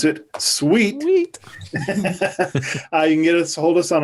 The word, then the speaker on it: CEWT: education workforce training, or as we like to pronounce it, SEWT, you can hold us on our website, which is cetrain.isu.edu.